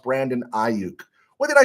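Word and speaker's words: Brandon Aiyuk: let's see uh Michael NR pastor Joe it's pronounced Brandon auk what did I say auk or I I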